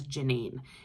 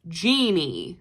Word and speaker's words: Jeannie: It is spelled like blue jeans, Jeannie, not like genie in a bottle, but Jeanie.